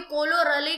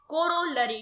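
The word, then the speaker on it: corollary: दिक्कत हो सकती है, आप कभी कोलोरली कह सकते हो, लेकिन आपको डिफाइन अच्छे से करना है, इसका जो प्रोनाउंसिएशन है उसे अच्छे से बोलना है, कोरोलरी, ठीक है।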